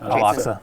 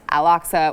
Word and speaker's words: Al-Aqsa: Al-Aqsa. Al-Aqsa was attacked.